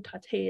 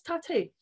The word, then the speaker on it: Taté: with my name is Tate part one that's weird say it one more time I thought you said Katie is it short for Tatiana tater tot rhymes with latte but you're like really